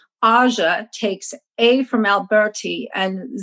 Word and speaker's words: AŽ: You say AŽ, that's what we're calling the AZ Hive. So the pronunciation for this hive in Slovenia is AŽ.